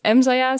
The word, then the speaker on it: EmmZaja: That's at EmmZaja. So that's, I pronounce it Dutch.